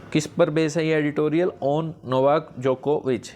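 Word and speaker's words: Djokovic: पर editorial on Novak जोकोविच जो यह साइलेंट है जो को भी सीम्स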